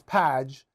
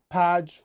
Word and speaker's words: PAJ: but it's the P I guess they pronounce padge find and protect and